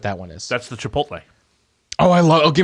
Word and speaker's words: Chipotle: That's the Chipotle.